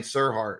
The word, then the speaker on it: Serhant: Your relationship with Ryan Serhart. Is that how you pronounce his last name? Sirhan, Ryan Sirhan. Serhant.